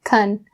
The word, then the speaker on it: can: ah sound very clear, I changed it to kun. You can always. It's really quick and subtle. But if you're not familiar with that sound or how native speakers change can to kun, then it can throw you off.